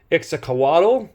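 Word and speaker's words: Iztaccíhuatl: I believe they're pronounced Ixtacoatl and Papado Capetal, excuse me.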